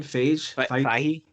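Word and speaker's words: Feige: Fahey.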